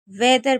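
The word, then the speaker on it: whether: इसे वेदर पढ़ेंगे। क्या पढ़ेंगे? वेदर। क्योंकि यहां पर हमारा एच साइलेंट है। मैंने बताया कि डब्ल्यू एच के बाद ई होता है। तो एच को नहीं पढ़ते हैं।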